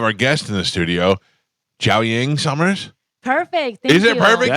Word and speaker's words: Jiaoying: Yeah, Summers, you did not pronounce it right, but Jiaoying was perfect. Jiaoying, that's what I'm working on.